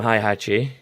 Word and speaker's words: Heihachi: Yeah, it's Heihachi.